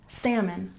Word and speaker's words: salmon: dam and number 18 salmon remember we don't say the L in this word salmon is a kind